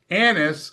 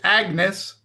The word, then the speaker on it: Agnes: You know, they they pronounced it annis. It's agnes to to us lay folk or American folk.